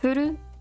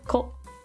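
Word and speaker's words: 古: This is old, which is pronounced furu or ko.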